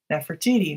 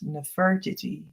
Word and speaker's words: Nefertiti: Nefertiti, maybe they say, but I think I've heard that it should actually be pronounced as Nefertiti.